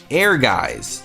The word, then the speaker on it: Ehrgeiz: faded away is because no one can actually say its name air guys God bless the ring at least I think that's how it's pronounced but either way it